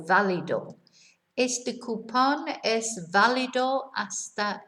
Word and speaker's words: válido: Notice where the accent is on the first day, on the only A, in fact, which gives us the stress on the beginning of the word, right? Not valido. So valido.